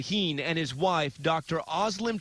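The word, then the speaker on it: Özlem Türeci: UGUR SAHIN (PRONOUNCED OOH-GER ZAW- HEEN) AND HIS WIFE DR OZLEM TURECI (OZ-LEM TOO-RETSI) CO-FOUNDED BIONTECH AND DEVELOPED THE VACCINE.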